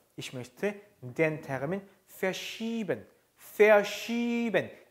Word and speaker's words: verschieben: Verschieben. 이 애는 이를 길게 발음한 거죠.